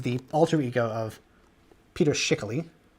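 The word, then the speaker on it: Schickele: alter ego of Peter shickley which I've always heard that's how you pronounce his last name uh and this is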